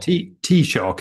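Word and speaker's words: Taoiseach: T-shock, isn't it? Is, think of it as the shock of having no tea. It's a tea shock.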